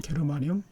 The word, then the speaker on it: 게르마늄: 나원소는 게르마늄 또는 저마늄이라고 합니다. 독일어로는 게르마늄, 영어로는 저마늄이라고 합니다. 자, 나원소의 원자량 73으로 예상할 수가 있는데, 그렇게 생각한 이유, 방법은 두 가지가 있습니다.